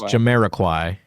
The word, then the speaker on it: Jamiroquai: Very close. It's Jamiroquai. You're forgetting it. You dropped a syllable.